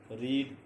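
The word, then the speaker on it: read: First form को रीड बोलेंगे, second form को रीड नहीं बोलेंगे, सेकंड फॉर्म को रेड बोलेंगे. लिखेंगे वही, स्पेलिंग वही होगी, लेकिन बोलने में जो सेकंड फॉर्म होगी और थर्ड फॉर्म होगी वो रेड होगी.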